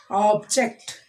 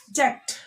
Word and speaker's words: object: When we are stressing on the second syllable, it is a verb.